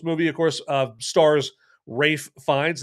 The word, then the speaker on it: Ralph: I think we should know his his first name is not pronounced Ralph anymore. It's Rafe Fines.